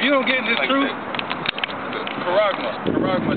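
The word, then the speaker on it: χάραγμα: If you don't get this truth, Karagma. That's how you say it in the Greek.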